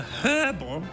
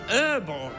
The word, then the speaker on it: herbal: who who was enjoying a herbal or As Americans say an herbal cigarette not a gerbal cigarette